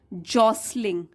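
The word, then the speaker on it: jostling: हैं on seeing tricky जॉसलिंग T silent है जॉसलिंग towards the balls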